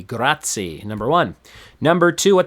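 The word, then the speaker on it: grazie: do you say Thank you in Italian that's gratti g r a z i e gratti number one number two what type of job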